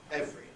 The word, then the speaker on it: every: word that's what happens an even clearer example is the word it must once have been e because nowadays the pronunciation every seems very artificial constant formation compression and normal pronunciation nowadays is every every day everyone but I think it arose from a historical compression we can say that